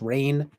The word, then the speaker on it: Refn: nicholas winding refn movie how do you pronounce his last name anyway is it just rain yeah kind of surprising